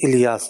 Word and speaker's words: الیاس: بڑا کامن مسئلہ ہے۔ تلفظ بھی الیاس ہے۔ اللہ تبارک و تعالیٰ کے ایک نبی حضرت الیاس علیہ السلام گزرے ہیں، ان سے نسبت رکھتے ہوئے آپ کا نام ہے، تو تلفظ بھی اہم ہے۔ کامن مسئلہ ہے مارکیٹ